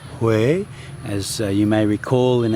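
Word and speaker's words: Huế: h in central Vietnam spelled h u e and pronounced H as you may recall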